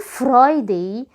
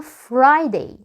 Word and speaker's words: Friday: سامع الار؟ مش بنقول Friday، اسمها Friday. Fry. حرف الار في الانجليش نطقه مختلف تماما عن الراء اللي احنا بننطقها في العربي، فاسمها Friday.